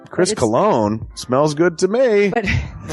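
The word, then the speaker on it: Colon: It is a self-published book by Christopher Cologne. Chris Cologne smells good to me.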